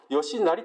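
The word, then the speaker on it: 義就: 州という字昔は吉成と呼んでたんで今吉ひと読むようですけどもこの 2人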